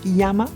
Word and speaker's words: Jama: Ce sera un aller-retour vers le refuge de Clemenza Jama, prononcé Yama.